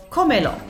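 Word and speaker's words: cómelo: So comelo. 1, 2, 3. So since the stress naturally falls on the second to last syllable, if the word ends in a vowel, which is this, see it's S or a vowel. So a vowel, N or S.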